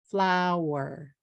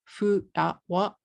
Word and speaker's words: flower: If you say flower in katakana, you're going to say furawa, and that will be three syllables, right?